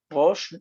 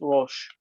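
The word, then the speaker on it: ראש: Rosh, the aleph doesn't have any sound. It's It sounds like it's just rosh.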